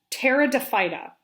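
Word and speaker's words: Pteridophyta: as a fuel the ferns terra de fida that p is not said so it's a silent p ferns usually have kind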